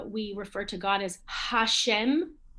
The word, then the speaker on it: Hashem: we look at today hashem we don't say a shem and it's not like the french where the h is not pronounced at all um so remember